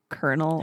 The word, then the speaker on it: colonel: eye of Colonel again why do we pronounce it colel when there's no r in it but that's another rant